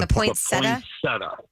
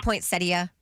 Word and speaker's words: poinsettia: My two sons got into a fist fight in our living room over the pronunciation of the Christmas plant. The the poinsetta. Did somebody say poinsettia?